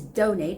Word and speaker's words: donate: One is donate, which is a verb, donate. Donate, the stress goes on the first syllable.